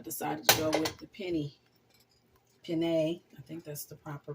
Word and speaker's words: penne: I used that last time, but I decided to go with the penne. I think that's the proper pronunciation.